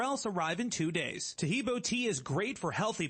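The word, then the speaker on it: Taheebo: day orders everywhere else arrive in two days tahibo tea is great for healthy people because it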